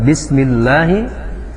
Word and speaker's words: bismillah: Pertama adalah lafadz bismillahi, yaitu lafadz Allah yang didahului harakat kasroh itu dibaca dengan berbunyi A. Hukum bacanya adalah tarqiq, dibaca dengan bacaan tipis, bismillah. Kemudian lafadz Allahnya juga la-nya dibaca 2 harakat, karena hukumnya adalah mad tabi'i.